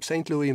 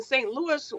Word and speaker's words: St. Louis: Louis, but in St. Louis, we do not have the French pronunciation. We say yes on the end of Louis, okay.